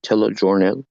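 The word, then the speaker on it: Telejornal: Telejournal, it's tele, tele from distance, telejournal is news. Telenews. Telenews. I was just trying to see how to pronounce it. Tele is like telephone, is communication long distance.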